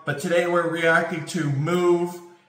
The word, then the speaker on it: moooove!!: I love that song, but today we're reacting to Move. The way it's spelled is kind of funny. It's like move.